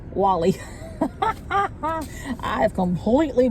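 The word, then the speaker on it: Guale: Upon European arrival, one group of indigenous people living on the coast were known as the Gaul, but it's not Gaul, it's Wally.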